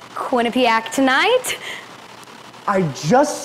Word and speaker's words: Quinnipiac: It's Quinnipiac.